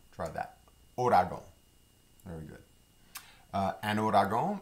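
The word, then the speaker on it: ouragan: the next word um looks like the word uragong and sometimes it's pronounced like that but louisianians typically pronounce it odago try that orago very good uh ano ragon is the word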